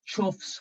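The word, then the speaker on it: choughs: um someone just said i was told the birds are pronounced chuffs with a ch i hope i've got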